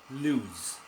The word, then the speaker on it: lose: at loose and loose loose as the sound of Z Z lose lose and it is a